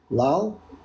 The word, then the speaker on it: Lal: Is it pronounced Lal? Lal?